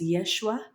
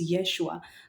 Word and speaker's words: Yeshua: Uh originally his name is pronounced as Yeshua. Uh it's it's it's Jesus's most a more anglicized version of his name. So it's Yeshua.